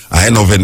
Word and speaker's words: Eindhoven: Eindhoven, them pronounce it now, yeah. E-I-N-D-H-O-V-N, Eindhoven.